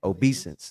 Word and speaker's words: obeisance: And behold, the sun and the moon and the 11 stars made, how you pronounce it again? Obeisance.